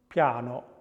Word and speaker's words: piano: And the other glide, which is voiced, is pre-palatal. Piano, y, y.